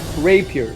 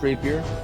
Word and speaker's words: rapier: so all you got to do is uh rape here it's pronounced Rapier he just double clicked the little square with